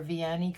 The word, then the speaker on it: Vianney: just sharing today the folders i made for vianni creates christmas ephemera folder swap yeah i said